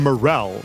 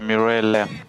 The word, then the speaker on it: Mirel: First I want to ask are we pronouncing his name right? We're saying Morel. Is it Morel? Uh, no. It's Mirel.